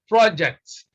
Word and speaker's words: project: about an action then it becomes project is no longer project it is project which means to communicate clearly so here you can